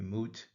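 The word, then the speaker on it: mwt: Uh pronounced usually moot.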